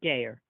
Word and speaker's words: Gayer: Is it Gayer or Geyer? It's Gayer. Gayer.